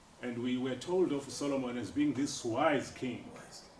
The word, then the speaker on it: Solomon: except just the highlights Solomon sitting Solomon oh Solomon about about notice that his stress is on the first syllable sorrow we'll talk about